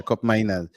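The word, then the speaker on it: Koopmeiners: uh cop how how do how do they pronounce that miners yeah yeah cop miners cop miners yeah yeah yeah so is he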